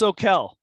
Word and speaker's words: Soquel: It's pronounced Soquel, by the way. Soquel Sorry.